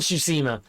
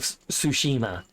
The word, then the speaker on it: Tsushima: Yeah, Ghost of Tsushima. I did not say that word correctly. But yeah, no, that is the game. Ghost of Tsushima.